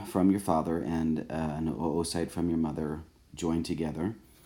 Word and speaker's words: oocyte: anatomically it's called an oocyte and most people pronounce it Oh site and not mu site so so the gametes a sperm from your father and an O site from your mother joined together and once those